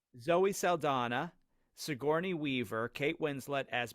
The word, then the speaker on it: Saldana: for zendetta for sure Sandara I just said that her name wrong wow Zoe Saldana Saldana thank you okay she's in it